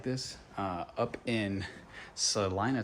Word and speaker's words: Celina: this uh up in Salina Texas Selena Salina the local call it Celina so I've kind of adopted that but it's spelled Selena um nice little bar right